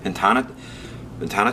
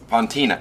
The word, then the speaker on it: Fontina: We're gonna put some Fontana cheese. Fontina, it's called Fontina, excuse me, I pronounced that wrong.